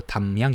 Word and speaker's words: 담양: 명 순창 발음이 됩니다 담양 당 양이 아니고요 담양 입니다 담 담 걸렸다 듯함